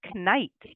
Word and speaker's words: knife: And originally in the English language, that K and the G for GN used to be pronounced. So we had knife, knife. It was dropped as it became through time because it was a little awkward to say, but we retained the spelling.